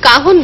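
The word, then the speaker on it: cajón: আমরা সবাই মিলে বেশ একসঙ্গে জমিয়ে যেটা বলছিলাম কাহন বাংলায় কয় আকার হয় এবং দন্তন্য নয় কিন্তু ইংরেজিতে বানানটা হচ্ছে সি এ জেড জে জে ও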